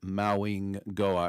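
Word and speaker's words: Mauigoa: off the board for Maui Goa. Right, Maui Goa. I keep forgetting that the G is pronounced like an N as well.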